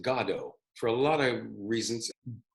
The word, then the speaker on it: Godot: And we decided to pronounce it God-ot, for a lot of reasons.